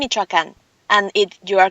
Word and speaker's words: Michoacán: It's Uruapan, Michoacán, and you are correct.